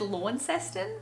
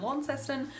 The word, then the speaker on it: Launceston: tripped up to Launceston I said Launceston the entirety of the time I was there but I'm pretty sure it's Launceston like it's not it's not pronounced how you read it it's like long long system regardless we didn't really